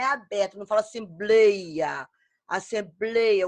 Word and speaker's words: assembleia: Temos a palavra assembleia. Eu quero que vocês falem junto com a Martelo. Assembleia. Ela forma aqui, ó, o blei, né? Forma um ditongo aberto. O som é aberto, não fala assembleia.